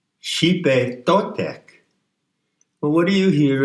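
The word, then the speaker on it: Xipe Totec: Now let's go to the next name, Xipe Totek. It's spelled X-I-P-E because the X in transliteration of the Nahuatl is a SH sound. Xipe Totek.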